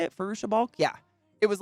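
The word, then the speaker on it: Fairuza Balk: Farusha Balk?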